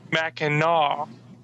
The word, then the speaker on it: Mackinac: back yes i have in a call called mackinaw island tells it phonetically in all caps i look at the